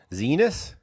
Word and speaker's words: Xinis: But back to Kilmar, the judge, Paul Innis, said, or Xinis, how do you pronounce that? Zenis?